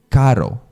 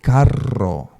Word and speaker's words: carro: But in Mexican Spanish, they will say carro. Oh, and something very important. when you have two R's together, don't say caro. You have to say carro. Carro. You have to really push that R's together, right?